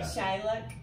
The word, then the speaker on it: Teaghlach: It does not spell like it sounds. Okay. It spells Teaghlach Ranch. Say it again. T-E-A. No, say the word, yeah. Teaghlach Ranch. Teaghlach Ranch.